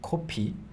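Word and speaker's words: 코피: then Co c yeah make that o with your mouth c yeah and even if you say copy kind of close to the pronunciation of copi it's such a rare occasion that you would actually talk about nose blood yeah so people will just understand it as Cofe as coffee or you can simp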